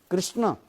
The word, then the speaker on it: कृष्ण: उनके जो व होता किंतु वास्तव उच्चारण क्या है हरे कृष्णा हरे कृष्ण कृष्ण कृष्णा हरे हरे हरे राम हरे राम राम